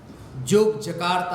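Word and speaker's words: Yogyakarta: Indonesia में जैसे जोग जकारता है, मगर लिखते हुए योग्य करता, वो जे और वाई जोग के लिए योग कहते हैं।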